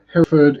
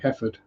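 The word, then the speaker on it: Hereford: wrong every time uh Herford is a word that's pronounced very different pronounce it you usway heord I think I mean heord would probably be how a local I hate farmer isn't it a local rustic rural type would say it heord um is's another one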